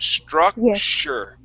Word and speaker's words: structure: structure structure okay so that t don't worry about that t yeah we want to say a sh sound structure structure there that's it